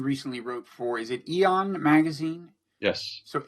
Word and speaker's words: Aeon: a piece you recently wrote for is it aeon magazine yes so Aton is pronounced the same way as eowyn and they